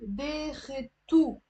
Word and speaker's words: داختو: If it's a consonant, like in this case, like a t, you can say داختو. You can pronounce the wow as a u.